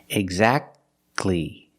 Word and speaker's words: exactly: the te is silent the t is silent when it's between consonants examples exactly Christmas we